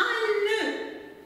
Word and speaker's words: nœud: Un nœud, j'ai le O, le E dans le O suivi de U. Je les ai prononcés E fermé, un nœud.